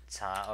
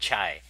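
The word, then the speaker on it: 茶: So that's pronounced that. Cha. Second tone, cha. And but in I think in Vietnam or Southern Asia they call it chai.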